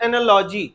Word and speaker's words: analogy: Basically इसको जो प्रोनंसिएट करते हैं वो कहलाता है एनालॉजी। क्या पढ़ेंगे? ज का उच्चारण होता है।